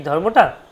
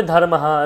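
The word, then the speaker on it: ধর্মঃ: যে বিসর্গটা আছে না বিসর্গটাকে অনেকে হের মত উচ্চারণ করে যেমন বলি ধর্মাহ রামাহ রামাহ গচ্ছতি রামাহ গচ্ছতি রামাতবিদ্যাল রামাহ অর্থাৎ রামাহ রামের পরে একটা বিসর্গ আছে বিসর্গটা উচ্চারণটা হ এর মত করছেন এবং বেশিরভাগ আমরা করে থাকি আপনিও করতে পারেন শুধু মনে রাখার ক্ষেত্রে যে বিসর্গটা যাতে ভুলে না যায় কিন্তু আসলে ওটা করা যায় না বা উচিত নয় আসল উচ্চারণটা ধর্মা ধর্মা ধরমা এরকম ধারমা ধারমা একটু দীর্ঘ উচ্চারণ করলে হয়ে যায় কিন্তু সবাই মনে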